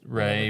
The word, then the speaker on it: Ralph: Yeah, but he also prefers it's his name Ralph. to be pronounced Ray, even though it's ALF.